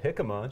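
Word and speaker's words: jícama: tried a new vegetable hikma shout out to hikma I'm a fan pronouncing it right so that's a start that's great people pronounce that one wrong so I'm in it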